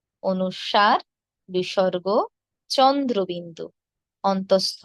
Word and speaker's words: অনুস্বার: অনুষ্কং, অনুস্বর এভাবে নয়, কি হবে? অনুস্বার।